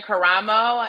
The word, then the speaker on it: Karamo: sure that i did not mess up the pronunciation of your last name again yes i'm christina caramo and i'm the republican candidate for michigan secretary